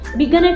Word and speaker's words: বিজ্ঞান: আর বিজ্ঞান, সেক্ষেত্রে দেখতে পাচ্ছি আমরা গ দুবার উচ্চারিত হচ্ছে এবং শেষের গটি, শেষের ধ্বনিটি নাসিক্য হয়ে যাচ্ছে।